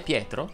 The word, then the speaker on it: Pietro: per leonardo oppure leo se il tuo nome e pietro lei va aperta se ti chiami rebecca